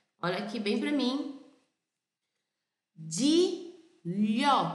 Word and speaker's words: Gigliola: Gigliola, como se fosse um LH. Ok? Sempre que você vê um GLI, pronuncia como se fosse um LH. Então, nós brasileiros, muitas vezes, pode ser até que você pronunciasse, né, de gliola, mas não é de gliola a pronúncia desse nome. A pronúncia desse nome é de lhó. Imagina que esse GLI seja um LH.